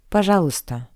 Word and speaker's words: пожалуйста: And the first word is пожалуйста. Please. Пожалуйста. Пожалуйста. Please note that the letter y is not pronounced.